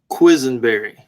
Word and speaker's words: Quisenberry: because i want to hear you say it quizzenberry oh well that's not why no it's you know i learned how to spell it like mickey mouse when i was younger